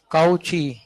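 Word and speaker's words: Cauchy: हां क्या होता है वो कोची फार्मूला कोची काऊची कर लो अपने हिसाब से प्रोनाउंस बट ऐसे किसी के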